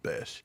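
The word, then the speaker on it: Bech: bomb flat FL Jack Beck from TCU Jack Bish he pronounced it B I thought it was Beck too and the announcer said bash okay and you're right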